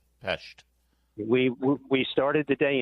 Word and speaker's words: Pest: And are you pronouncing with the appropriate sh in the shesh? Pesht.